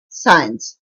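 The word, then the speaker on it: science: SEIENCE साइंस विज्ञान। द साइलेंट word is C.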